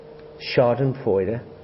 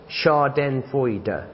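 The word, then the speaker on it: Schadenfreude: e u d e Sharden fo four syllables sounds a bit more than that doesn't it what's it mean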